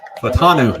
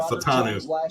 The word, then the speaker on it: Fautanu: Fatanu. Is that how you say it? I've been saying Fontenot this whole time. Fatanu.